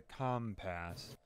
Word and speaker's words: compass: greatest invention since the com pass I've never actually heard it pronounced out loud I've just read it on paper it's uh it's compass that's how you pronounce it emphasis on emphasis on come I'm looking for those